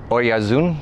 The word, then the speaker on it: Oyarzun: And I have Alex Oyarzun. Did I pronounce that correctly?